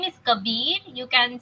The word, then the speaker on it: Kabir: So the name is Kabir. You can spell it out as K A B I R.